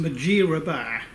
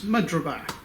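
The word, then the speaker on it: Mudgeeraba: It's actually pronounced Majirabar, but you know, to the locals it's Mudrabar.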